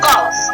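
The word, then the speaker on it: cough: किया जाता, अर्थात यू लेटर जो तो आपका साइलेंट हो। जैसे एग्जांपल देते हैं, कॉफ, क्या पढ़ेंगे इसको?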